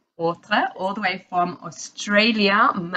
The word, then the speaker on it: Hautreux: Hautreux, all the way from Australia, Melbourne, Australia.